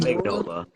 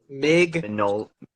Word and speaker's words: Mignola: So, I'm sure that Mignola, how do you say his name? It's not Mignola. Mignola.